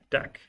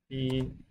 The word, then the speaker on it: deque: This is now our deck. DQ. Looks like DQ, but there's not the extra UE.